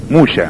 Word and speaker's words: موسى: يشوع او يسوع على فكرة كلمة واحدة، لان دايما اليهود ينطقوا السين شين، حتى موسى يقولوا ايه؟ موشى، موشى ديان. يمكن تسمعوا على كلمة موشى ديان، موسى هو اسمه موسى ديان، بس هم يقولك موشى ديان.